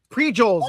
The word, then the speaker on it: Frijoles: Pri with a P. P-R-I-J. Prijoles, man.